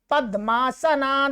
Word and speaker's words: पद्मा: ये जो ये दिख रहा है आपको, ये वास्तव में क्या है? द और ये माँ, ऐसा है द माँ। तो पद्मा, पद्मा ऐसा बोलना, ठीक है। ऐसे यहां पर पद्मा द और माँ है।